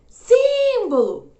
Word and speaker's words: símbolo: chamar essa palavra símbolo alguém falaria assim ó tem um bolo símbolo não né é mais provável que a gente fale símbolo mais uma vez a